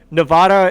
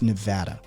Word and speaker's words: Nevada: the way the locals i live in vegas it's nevada they're very particular about it yeah i'm from vermont originally my original pronunciation was nevada as well because nevada sounds southern but it is it's